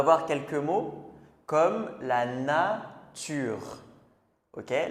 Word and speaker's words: nature: Par exemple, le mot nature, il va être en deux syllabes. La naure. Alors, parfois, on peut entendre comme un petit son de e comme nature, mais en fait c'est très léger.